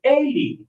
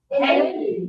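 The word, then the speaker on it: eighty: The bigger ones have the stronger first syllable. That one is 80. 80. And then the lower numbers, the smaller ones, have the stronger final syllable, 18.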